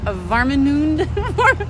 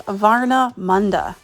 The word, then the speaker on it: Warnemünde: Come with me today as we explore Warnemünde. Come with me today as we explore Warnemünde, Germany. I think that's how you say it. Okay, so I clearly struggle with pronunciation on this one, but it's Warnemünde.